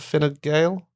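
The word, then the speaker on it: Fine Gael: great that's what we need F fail and fin Gale it's fan fail isn't it yeah I still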